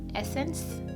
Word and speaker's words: Essence: I'm gonna use this by Essence, that's how you pronounce it.